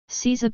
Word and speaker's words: seiza: Seiza position, kneeling. Seiza, pronounced seiza, is a kneeling position that takes